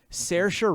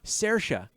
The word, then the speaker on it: Saoirse: It's Saoirse Ronan. That's how you say her name. Saoirse. Oh man, it's like Sarosi.